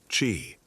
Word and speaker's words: Qi: The prevailing philosophical framework was that of Yin and Yang, the complementary forces that govern all existence, and Qi pronounced Qi, the vital life force or energy that flows through everything, including the human body.